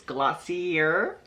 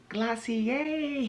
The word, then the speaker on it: Glossier: quick glossier pronunciation glossier the wrong way is glossier and the right way is glossier so okay i know